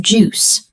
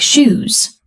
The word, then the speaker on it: juice: He wants a glass of juice, so he says, "I would like some juice, please." but his pronunciation is not clear. Instead of juice, it sounds like shoes.